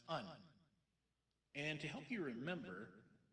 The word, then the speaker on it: een: without the exit Marks is an Exception in Dutch it's pronounced un and to help you